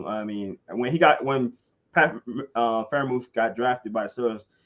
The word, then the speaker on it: Freiermuth: Freiermuth, there you go.